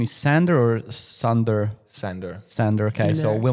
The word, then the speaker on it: Sander: The right pronunciation is Sander or Sander? Sander.